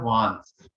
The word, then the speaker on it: Wands: वांस, basically spelling है WANDS, लेकिन इसको जो प्रोनाउंस किया जाता है वांस, डी साइलेंस रहता है। तो वांस बोलते हैं।